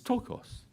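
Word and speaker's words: πτωχός: The word for poor is tokos.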